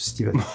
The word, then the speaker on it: Stephen: Non, c'est Stephen avec PH, comme phallus, mais ça se prononce Stephen.